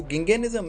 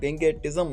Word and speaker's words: gigantism: lobes होते हैं और ये जो गंगे निज्म है इसको आप गंगेट जम मत करना क्योंकि टी यहां पर साइलेंट है तो ये डिसऑर्डर जो